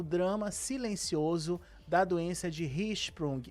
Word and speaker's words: Hirschsprung: silencioso da doença de Hprung. Eu falei certo, doutora? Sim, a pronúncia é essa mesmo. Hisprung.